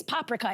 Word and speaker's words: paprika: A Hungarian woman during the Caftans Live said it's, by the way, it's paprika. In most Hungarian words, the emphasis is on the first syllable.